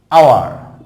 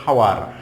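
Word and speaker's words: hour: তারপর হচ্ছে আওয়ার, এখানে ঘন্টা, ঘন্টা আমরা বলে থাকি, অনেকে বলে হাওয়ার, হাওয়ার নট হাওয়ার, আওয়ার। আর শেষে আর যখন উচ্চারণ হবে তখন আওয়া, আওয়া হবে। তাহলে আগে তুমি শিখো এইচের উচ্চারণটা হবে না, এখানে আওয়ার নট হাওয়ার, আওয়ার।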